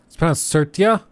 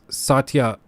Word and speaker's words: Satya: like it's just the certia sir Tia I have literally only ever heard it as Satya nadala I've never heard it as certia the r is silent there's no R in his name it's a t